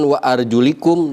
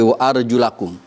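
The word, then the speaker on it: وَأَرْجُلَكُمْ: kepala kalian, wa arjulakum, awas hati-hati bacanya, bukan wa arjulikum tetapi wa arjulakum.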